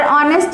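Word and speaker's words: honest: ऑनेस्ट के पहले हुआ, और ऑनेस्ट में हमारा फर्स्ट लेटर क्या है, एच, और एच क्या होता है, कॉन्सोनेंट। एच जो है वो कॉन्सोनेंट है, बट कॉन्सोनेंट होने के साथ साथ इसका प्रोनाउंसिएशन क्या हो रहा है, वॉवेल साउंड से आ रहा है, इसलिए हम इसके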